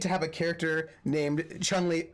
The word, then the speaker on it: Cholmondeley: Chumley Fanshawe is spelled Cholmondeley Featherstonehaw. Because British aristocrats, to be quite honest.